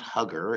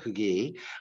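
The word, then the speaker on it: Huger: And so as Hugee, it depends on, it's not Hugger, it's Hugee, but his name is spelled Hugger.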